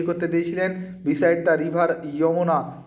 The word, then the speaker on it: Yamuna: Beside the river যমুনা বা যমুনা নদীর তীরে, YAMUNA, যমুনা উচ্চারণটা যমুনা। আবার আমরা বাংলায় যখন বলি যমুনা বলি, অ্যাকচুয়ালি ইংরেজি থেকে যখন বাংলায় উচ্চারণ করি তখন আমরা অনেক বিকৃত উচ্চারণ করি, কথাটা অ্যাকচুয়ালি যমুনা, কিন্তু আমরা সেটাকে বলি যমুনা।